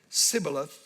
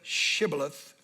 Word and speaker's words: shibboleth: they said all right say Shibboleth if he said similar instead of Shibboleth because he could not pronounce the word correctly they seized him and